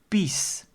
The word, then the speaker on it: pies: pies that word pies if you pronounce it Dutch it is peace and that is urine